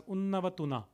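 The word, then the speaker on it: Unawatuna: I may be wrong in pronouncing it, but my understanding from all my reading is it is pronounced as Unnavatunna, or some pronounce it as Unnavatuna.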